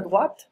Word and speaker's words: droit: Donc attention à la prononciation, la droite, the right, et à droite, tout droit, pardon, à droite, la droite, tout droit, d'accord.